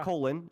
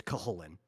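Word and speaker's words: Cú Chulainn: You can say colon.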